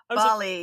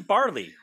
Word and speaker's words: Bali: It's that they're adding R's where there aren't any with these British people when they pronounce things. Bali, like, yeah. Well, they kept saying barley.